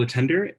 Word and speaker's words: Letendre: my name is attender it rhymes with chicken tender gender bender I will generally respond